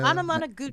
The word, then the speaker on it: Anamanaguchi: I don't know how to pronounce their name. Anna, Anamanaguchi.